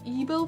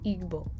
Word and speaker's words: Igbo: So if I'm saying it correctly, I think it's supposed to say Igbo.